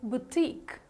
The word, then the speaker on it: boutique: women it is called as how do you pronounce it it's called as boutique right so don't forget it batik okay how